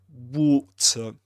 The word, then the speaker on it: water: This is this word in British English is pronounced in Luke's accent, Southern Standard British English, water, water, with his long O sound and a schwa at the end.